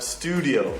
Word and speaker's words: studio: Studio. Studio. The stress is on the U.